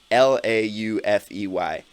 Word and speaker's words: Laufey: Laufey, and that is Laufey. Laufey. She is Icelandic, so she's got funny pronunciations.